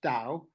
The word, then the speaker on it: Tao: Um, Tao, and it's got a T and sometimes a D, but it is pronounced Tao, is translated as the